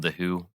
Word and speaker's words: The HU: They also manage a band called The Who. It's spelt with the HU.